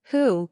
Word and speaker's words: Hu: associated with the kidneys who pronounced like who which is associated with